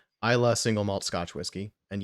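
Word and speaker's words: Islay: This is it says Isla single malt Scotch whiskey, and yes, it's pronounced without the Y.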